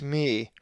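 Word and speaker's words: μῦ: The 12th letter of the Greek alphabet is the upper and lowercase mi, which is always pronounced as ma, as in mother.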